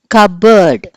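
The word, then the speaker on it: cupboard: మీకు పి వినిపించలేదు okay so పి ఇస్ the silent letter in the word కబోర్డ్ ఇప్పుడు మనం లెసన్ లోకి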